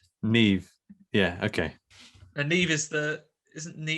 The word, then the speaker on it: Niamh: That's just the actress's name, Niamh.